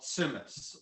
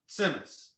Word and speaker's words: tzimmes: dish is called semes so it's like a ts semes which is yiddish for a simmering dish okay so it's but in yiddish this set is like it's you put a little tea in there so stimus yeah yeah that's good